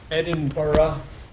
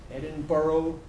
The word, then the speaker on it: Edinburgh: This is my pronunciation. Borough, Edinburgh. And this is the Scottish pronunciation as well. Borough, Edinburgh. Borough with schwa, schwa. But Americans will tend to say borough and Edinburgh here.